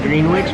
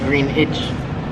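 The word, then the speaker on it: Greenwich: spelled green witch and i always try to say green witch but he's always says don't pronounce the w green itch green age greenish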